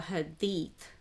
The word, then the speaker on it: Hadith: which is called the Hadith or Hadi which is the um sayings of Prophet Muhammad like written down in history and uh now there are certain hads or Hadi uh cuz you know it's pronounced uh both ways in different you know um you know variations or pronunciation variations um Arabic and non-arabic dialects